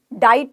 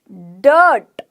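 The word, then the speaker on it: dirt: sound आई फ्लर्ट डर्ट डीट नहीं बोला मैंने डाइट नहीं बोला मैंने डाइट नहीं बोला डीच नहीं बोला डायट नहीं बोला क्या बोला डट अ आए यहां पर साउंड किसकी क्रिएट कर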